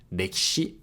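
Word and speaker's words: 歴史: So here the E sound in ki can be devocalized. Rekishi.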